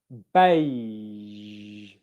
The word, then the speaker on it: beige: Okay, I'll give it to you once at the end of a word. Beige, beige, beige. Here's a tip: when it